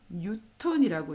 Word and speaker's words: 뉴턴: 우리 길이 단위는 센티미터, 미터 이렇게 사용하듯이 중력의 단위는 N이라고 쓰고 뉴턴이라고 읽습니다. N이라고 쓰고 뉴턴이라고 읽어요. N이라고 읽지 않습니다. 뉴턴이라고 읽습니다.